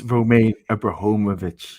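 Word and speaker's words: Roman Abramovich: to contend with as you're always correcting my pronunciation um it's romaine abrahomovic okay by the way nicholas but um sorry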